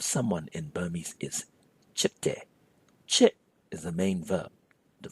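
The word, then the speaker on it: ချစ်: Chit is the main verb, to fall in love. One more time, it's pronounced chit.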